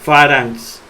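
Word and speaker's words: φάραγξ: Gamma más xi se pronuncia como N. Entonces, la gamma como N y la xi como xi. Es decir, como X. Ahí dice pharynx.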